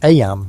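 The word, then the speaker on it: Eyam: It's now the summer of 1665, and we find ourselves in Aam, a small village nestled in the picturesque hills of Darbisha, England. Aam, you know, is pronounced just like em.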